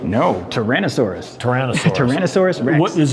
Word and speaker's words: Tyrannosaurus: Got a Now that's Toronto Tontosaurus, right? No. Tyrannosaurus. Tyrannosaurus. Tyrannyosaurus Rex. What is there a difference? Did I pronounce it wrong?